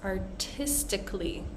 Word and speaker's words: artistically: And we're going to see that also in words such as artistically. So instead of saying artistically, we're going to squeeze out that vowel and we're not going to really pronounce it at all.